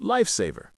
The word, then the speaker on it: lifesaver: For absolute lifesaver, notice the linking absolute lifaver. The t often links with the following vowel sound if it's there. And lifaver has the primary stress.